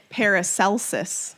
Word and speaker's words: Paracelsus: on these people oh I found how to pronounce it Perik Lisa swear wrong Paracelsus Paracelsus helpful so pretend right